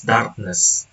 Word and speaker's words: darkness: The suffix ness is the third example is darkness. The base word is dark. The derived word is darkness. The suffix ness is stress preserving. The stress remains on the root syllable dark, demonstrating neutral suffixation.